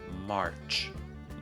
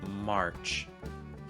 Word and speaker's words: March: March, March. For all my friends who have some British English training, just a note, you need to pronounce the R here in American English.